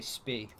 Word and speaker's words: Spee: A lot of people say Spee. Like, it basically is the British pronunciation. If you say Spee, then just have all the German people saying, it's Spee!